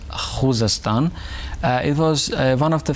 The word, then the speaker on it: Khuzestan: Khuzestan province I mean the correct Persian pronunciation is Khuzestan.